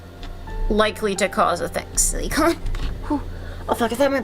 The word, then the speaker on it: silicon: You were saying silicone earlier, which is a different thing.